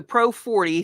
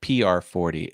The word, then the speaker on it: PR40: Jeff Robinson says, can you take the Pro 40 through a soundboard, then into your phone for a live stream? Yeah, PR40 is how it's pronounced.